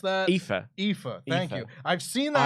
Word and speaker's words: Aoife: How do you pronounce that? Aoife.